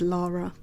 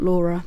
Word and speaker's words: Lara: Okay, so it's Lara, not Laura.